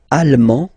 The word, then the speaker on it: allemand: L'Allemagne, allemand, allemande, okay, same thing here. En, okay, you don't pronounce the final D, but then you pronounce it here for the feminine form.